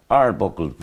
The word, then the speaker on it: Arbuckle: evening is Young Keelan you pronounce the second name Arbuckle Arbuckle yeah yeah your manager and your family was in you're not pronouncing a right Frank AR buckled where did that name